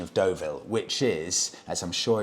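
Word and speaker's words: Deauville: so the correct dictation would be the Honda doville check out this link thank you Steve uh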